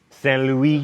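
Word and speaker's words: Saint-Louis: Oh, Stan, don't make me say it right. Fine. Saint Louis, and at a town called Gorée, both in Senegal.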